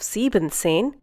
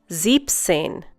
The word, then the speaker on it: siebzehn: siebzehn Instead of siebenzehn, you say siebzehn. Once again, siebzehn. In this case, you remove the e n from sieben and add it to the zehn.